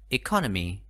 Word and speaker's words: economies: ở voice voice depencies economies economies từ có bốn ngăn tim call me trọng con đánh vào âm tiết thứ hai economies Akane number three my